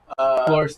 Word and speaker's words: Cloris: Cloris Leachman. Yeah, Cloris How Leachman do you spell and that? Michelle Cloris, Clorisle. C-L- That one is spelled just like it sounds.